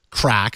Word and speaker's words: KRACK: called well that's been dubbed crack spelled with a k KR ack jerry you wrote